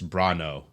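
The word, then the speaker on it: Bronaugh: uh JT brono uh I shouldn't say brono because his name is actually kind of backwards it's spelled b r o n a u g and I want to say brono but it's actually it's brono JT brono uh from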